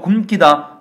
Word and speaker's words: 굶기다: 마찬가지로 굶기다. 기본형은 굶다니까요. 발음할 때는 굶다 미음만 발음이 되겠죠. 그 뒤에 기역이 왔지만 이 기역은 사동 접사이기 때문에 굶기다 된 소리로 표현하지 않고 원래 소리대로 표현한 것이고요.